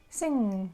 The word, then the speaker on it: sing: Don't pronounce letter g because ng in English is a sound So you should say sing, sing, sing, sang, sang. And don't mix it up with the word song. And that sound you pronounce in the following way. Sound is kind of like similar to the sounds k and g.